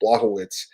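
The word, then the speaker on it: Błachowicz: I got to pronounce this properly. Blachowicz.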